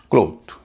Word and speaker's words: cloth: CLOTH, इसमें ओ बीच में है, पहले भी दो कॉन्सोनेंट हैं, बाद में भी दो कॉन्सोनेंट हैं, उच्चारण हो रहा है ओ, क्लोथ।